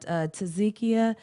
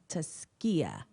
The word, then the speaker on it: Taskia: And I thought that Tazikia, is that correct? Did I say it correctly? Say it for me, please. Taskia. Excuse me, Taskia.